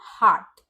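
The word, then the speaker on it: heart: हार्ट हार्ट में भी आर के बाद आता है टी जो एक कंसोनेंट साउंड है तो हम यहां पर भी का उच्चारण नहीं करेंगे उसे साइलेंट रहने देंगे तो इसका प्रोनंसिएशन हुआ हार्ट बर्ड फिर से आर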